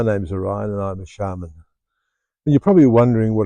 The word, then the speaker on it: shaman: And the medicine person, male or female, was known as a shaman, S-A-M-A-N, but in the Tungus world it's pronounced shaman.